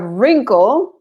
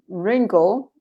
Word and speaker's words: wrinkle: and then you have wrinkle wrinkle arugus wrinkle you don't pronounce the w a wrist this is